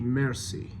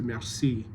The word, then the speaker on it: merci: you say merci, and I'd like it to just be merci, so mercy. The emphasis is on the first syllable as opposed to merci, where the emphasis is on the second syllable.